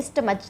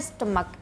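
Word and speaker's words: stomach: ये लिखा है स्टमक अब ये इसको बोलते वैसे तो चा हुआ सीच मतलब चा होता है तो क्या बोलना चाहिए इसको स्टमच लेकिन नहीं इसका उच्चारण होता है स्टमक क्या बोलेंगे स्टमक स्टमक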